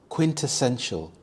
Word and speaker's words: quintessential: Quintessential. Quintessential. The stress is on the second syllable. Tess quintessential.